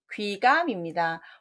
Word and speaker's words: 귀감: 자, 답은 귀감입니다. 혹시 구감이라고 읽지 않으셨어요? 거북 귀자고요.